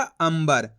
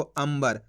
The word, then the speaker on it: अंबर: जाएगा अंबर अब दोस्तों अपन ने शब्द को कैसे पढ़ा अंबर इस तरीके से पढ़ा अपन ने इसको अंबर आधा मा का उच्चारण करा इसके अंदर बिंदी देखो